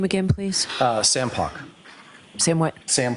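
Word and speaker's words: Poch: Sam Pock. Sam what? Sam Pock. Spell it, please, the last name?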